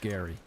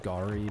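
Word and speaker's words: Geri: Except spelled G-E-R-I after one of Odin's wolves. But absolutely pronounced Gary. It's not, it's pronounced Gary, but I think that's funny.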